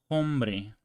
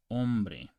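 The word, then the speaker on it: hombre: can you canoso okay the H is silent in Spanish okay so you don't pronounce this as inbre you pronounce ombre and you don't pronounce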